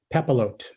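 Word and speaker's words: papillote: So tell us about the recipe and what is a pepilote? And am I even saying it right, Scott? You are saying it correctly.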